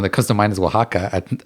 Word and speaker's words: Oaxaca: And the only one that comes to mind is Oaxaca. Like, so how do you say? Yeah. How do you say? And you don't even hear the X in Oaxaca.